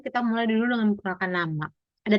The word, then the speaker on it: Name: Bacanya my nama ya, bukan my name.